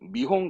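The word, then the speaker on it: 見本: 견인이니까 캔 본인이니까 홍 아니에요 발음은 미홍합니다 보다의 미르의 미와 홍 미홍 그래서 발음을 하거든요 미홍 견본 샘플 미용하죠 하다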